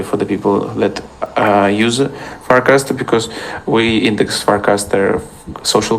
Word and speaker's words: Farcaster: Can you pronounce how is that spelled? Farcaster. Farcaster. Oh, Farcaster. Got it.